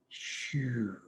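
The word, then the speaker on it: xu: pinyin as x u the x in pinyin is pronounced like sh so that the liver sound would be shoe like what you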